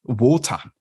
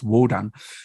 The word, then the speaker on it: Wodan: Old High German, but people might say the Old High German form of Odin's name is Wotan. And if you look at the spelling in the Merseburg charm, specifically the second one, it's actually spelled with a D and it's Wodan.